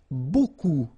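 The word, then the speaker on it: beaucoup: strange B like that remember you don't pronounce the final P okay and then you get this combination of vowels a u and you get the sound o so technically it's B okay so it's not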